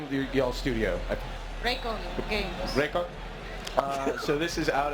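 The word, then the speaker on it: Reikon Games: Raycon Games.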